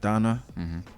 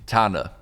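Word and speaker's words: Thana: don't say it oh i said donna it's t-h-a-n-a tanda yeah okay yeah so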